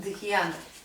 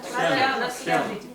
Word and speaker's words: dhyana: is called dhyana. Дхьяна. Dhyana. Дхьяна. Дьяна. We say in Russian дхьяна. Да? Да. Как она произносится правильно? Дхьяна.